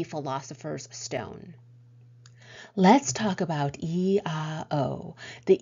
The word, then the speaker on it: IAO: Let's talk about E-A-O. The E is pronounced like a key, and the O should be hummed or intoned in such a way that you can feel your throat vibrating.